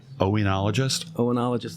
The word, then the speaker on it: oenologist: How do you pronounce that? Oenologist.